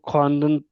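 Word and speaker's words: خواندن: जैसे वो खानदन लिखा जाता है बट बोला खानदान जाता है।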